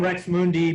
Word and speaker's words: Rx Mundi: I go by the name Rex Mundi, but it's spelled RX space MUNDI.